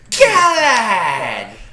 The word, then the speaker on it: Galahad: It's pronounced Galahad.